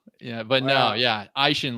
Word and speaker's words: Eischen: It's like the two body parts, your eye and your shin. Eischen.